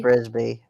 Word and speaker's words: Brisby: It was dark foreboding and, Miss how do you say it, this is Bisbee? Brisby. Brisby.